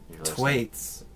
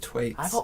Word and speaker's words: Thwaites: Thwaites. It's Thwaites? Thwaites. It's a TH! The H is silent.